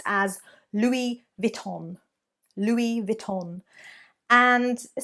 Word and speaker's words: Louis Vuitton: needs to be removed so it should be Louis Vuitton Louis Vuitton Vita louisvil Tom there we go I think